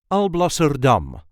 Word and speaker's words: Alblasserdam: There is a light emphasis on the last syllable. I'll blur dumb. Also dumb. Alblser dum.